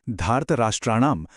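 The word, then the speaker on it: धार्तराष्ट्राणाम्: फिर धारत राष्ट्राणाम में आ की मात्रा को लंबा खींचना है और आखिर में मुंह की एक गहरी गूंज आनी चाहिए।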